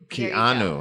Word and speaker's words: Keanu: Let's first take a look at the most prominent suspect on today's list, Keanu Reeves.